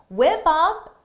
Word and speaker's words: whip up: Whip up is a phrasal verb for the pronunciation. Notice is whip up, whip up, whip up. Because of linking.